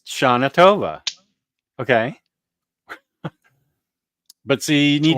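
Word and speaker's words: שנה טובה: means happy New Year it's pronounced Sha atova okay but see you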